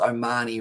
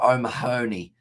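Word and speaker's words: O'Mahony: wrong don't i i'm i'm glad that i pronounced omani right though so i used to call him peter o mahoney and everyone used to laugh at me and just say what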